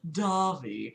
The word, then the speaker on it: Davi: oh my God yeah it's pronounced Davi not d d or whatever um oh okay